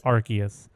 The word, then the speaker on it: Arceus: speaking of pokemon arceus i'm pretty sure nintendo says arceus i've always pronounced that pokemon's name as arceus but we'll go with arceus and we'll see how far i go before i start reverting back to arceus see i have to